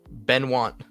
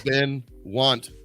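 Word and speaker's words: Benoit: never met anyone named oh wait it has been one word ben want yes oh i thought it was been want no ben can i bring this up real quick let's show you how it's spelled just uh just for just for fun ben want blanc that is how that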